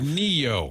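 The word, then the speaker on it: Ne-Yo: It's pronounced Neo.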